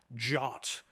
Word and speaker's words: JWT: for Json wed token it's often pronounced jot uh because reasons uh